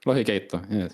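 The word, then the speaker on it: lohikeitto: I'm gonna try to pronounce the recipe. Lohikeito. Yeah, good. Lohikeito.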